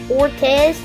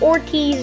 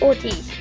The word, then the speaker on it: Ortiz: in my last video i called him ortez his name is ortiz guys he's ortiz guys i'm sorry i've mispronounced his name it's ortiz not fortes and over here we